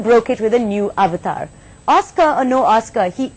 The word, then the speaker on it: avatar: Well, I pronounce it avatar like everybody else does, but I believe it's pronounced more like avatar.